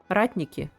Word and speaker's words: Ratniki: Not rat niki. Ratniki. Sorry. Sorry. It's okay. I know it's direction. Ah, okay. But it's pronounced Ratniki.